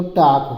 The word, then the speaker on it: talk: TALK, TA से टापराक मात्रा टा हो जाता है, यह साइलेंट है, यल नहीं बोला जाता है। और के से क लिखा जाता है, तो टाक हो जाता है।